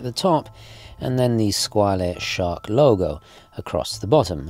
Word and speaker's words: Squale: some historical context first squ or should I say squal if you want to pronounce it correctly in French so italio it was